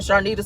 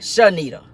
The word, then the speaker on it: Sharnita: Sharnita says this, and I kept telling her that my name is Sharnita, not Shanita.